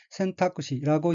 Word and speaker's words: 選択肢: 셋째 줄 오른쪽 어휘는 한자가 한국어로 선택지이고 각기 가릴선, 가릴택, 팔다리지 자로 되어 있으며 일본어로는 센타쿠시라고 읽으며 센타쿠시는 선택지라는 뜻입니다.